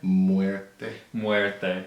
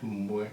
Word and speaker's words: Muerte: You always tell me I say it wrong. La Santa Muerte? Muerte. Muerte. Bro, you got to drop it down.